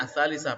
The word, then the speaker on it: ats-tsalisah: Ya, jadi ini dibacanya ats-tsalisah pakai tak marbutoh karena bendanya ada tak marbutohnya.